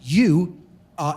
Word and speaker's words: eu: I'm sorry the adjective you uh Epsilon Upsilon Epsilon Upsilon in Greek pronounced youu is the adjective meaning